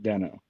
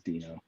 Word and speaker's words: Deno: 2018 was calling it denno and then i think somebody convinced him it should be dino because it's like a little dinosaur guy oh and so oh yeah so the official pronunciation is dino okay so the spelling